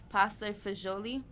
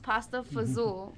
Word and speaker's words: pasta fagioli: now Yum Yum Yum it's also pronounced pasta fazool by many Americans showing it right now